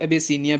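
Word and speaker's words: Abyssinia: Old name जो है Ethiopia का इसको एबेसीनिया भी कहते थे। ठीक है जी? एबेसीनिया।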